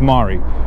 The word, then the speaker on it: mare: to the west, super, Latin for above, and mare, Latin for sea, or pronounced mare.